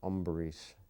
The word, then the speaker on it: Ambarish: my name you know he he pronounced it umberish you know and um